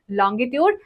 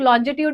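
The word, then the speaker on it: longitude: Lines का नामकरण है लॉन्गिट्यूड एंड लैटिट्यूड। ओके, बहुत सारे लोग लॉन्जिट्यूड भी कहते हैं, बट it's completely fine, pronunciation SSC में नहीं देखी जाती है, right, we आर not doing English.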